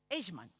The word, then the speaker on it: Eichmann: que más un hombre, Adolf, me cuesta la pronunciación de él, Eichmann creo que es, espérese, sí, Eichmann.